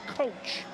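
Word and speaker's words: Koch: the right about six Matt coach and it is pronounced coach is the catcher brandan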